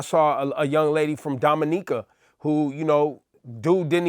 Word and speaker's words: Dominica: a young lady from Dominica who you know dude didn't even know how to pronounce the nation and she was like it's it's a it's Dominica like it's not Dominica it's Dominica it's in the Caribbean